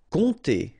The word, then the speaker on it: compter: Compter. All right, so OM, really like a nasal here, on, and then this P is not pronounced, compter.